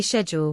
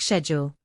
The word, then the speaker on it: schedule: For example, Americans say schedule with a SK sound, while many Brits say it with a sh sound, like schedule.